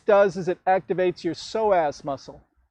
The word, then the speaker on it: psoas: back what this does is it activates your psoas muscle it's a muscle that often gets neglected as we get older it's a very important hip flexor if you want to look it up it's spelled psoas inhale come up soften into your exhale left